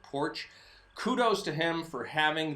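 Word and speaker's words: Poarch: It's P-O-A-R-C-H, but I think he pronounces it Porch.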